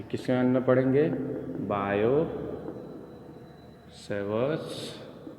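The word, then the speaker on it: Biot: बायो Savart's law. T silent है बच्चों, बायो पढ़ते बायो नहीं पढ़ते हैं, ठीक है।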